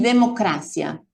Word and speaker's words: democracia: los heteroprosódicos, es decir, palabras que son semejantes o iguales en ambos idiomas, pero que se pronuncian de una manera diferente. Y yo aquí tengo 3 ejemplos: policía, cerebro y democracia.